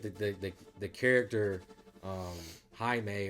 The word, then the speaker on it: Jaime: the the character um Jaime or how you say it I just don't want to say it wrong don't say Jamie I think that his